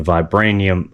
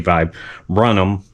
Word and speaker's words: viburnum: I mispronunciated uh this actual bush. It's a a vibranium. I called it a vibranium. It's actually vibrum.